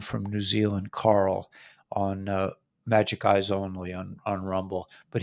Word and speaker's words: Majic: No, it's not Majestic Eyes. It's Magic Eyes, but it's spelled MAJIC Eyes Only on Rumble.